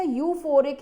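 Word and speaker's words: euphoric: होगा, या इट्स Y, pronunciation इसका यूफोरिक है, तो वाई से स्टार्ट, इट्स अ कॉन्सोनेंट, तो it should be अ यूफोरिक होगा, ना कि एन यूफोरिक होगा, अ यूफोरिक सेंटिमेंट।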